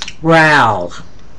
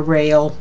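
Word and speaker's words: rale: RAL. I know it looks like a rail, but it isn't. It's a RAL, like it's spelled R-A-W-L.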